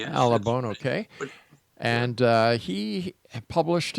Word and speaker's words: Alabone: Exonation, our guest this hour is Alabon. And, am I pronouncing your family name correctly? Yeah. Alabone. Yes. Alabone.